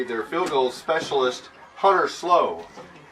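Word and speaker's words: Slouh: right will be their field goals specialist hunter slow it's spelled s-l-o-u-h hunter slow so how will start out moving left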